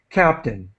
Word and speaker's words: captain: don't we we uh the last part of this word we really pronounce like the letter 10 Captain Captain we don't we uh it's under pronounced Captain okay and I'm going